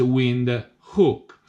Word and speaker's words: Windhoek: but I realized that you can pronounce that with by using you instead of all II that is wind hook well what's wind who